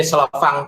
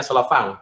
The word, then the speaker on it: Slovin: Oke, ini Slovang test itu ya. Bacanya Slovang, tulisannya SLOVIN gitu. Tapi Slovang, dia orang Skandinavia ya.